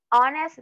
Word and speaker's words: honest: que comience con h pero esta H es muda esta H no no suena no tiene ningún sonido al pronunciarla por ejemplo an honor an Hour an honest Man honor con qué